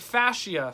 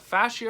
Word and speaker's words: fascia: The infraction was with aero in the front fascia. Fascia or fascia, according to the internet. Either one of those pronunciations works.